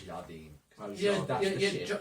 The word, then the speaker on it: Jardine: Not Gerardine, it's Jardine.